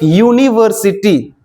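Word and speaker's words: university: जैसे कि आप लोग यूनिवर्सिटी, ये क्या लिखा हुआ है? तो उसका उच्चारण यू हो रहा है, यूनिवर्सिटी, तो इसीलिए क्या लगेगा?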